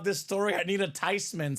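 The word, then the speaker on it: Theismann: nah not really it's actually supposed to be pronounced tysman so it's not theeman it's not Theisman it's Joe tysman tysman tysman in the house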